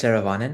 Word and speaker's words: Saravanan: So, Saravanan, am I pronouncing that right? No, help me. Saravanan: Hi, my name is Saravanan.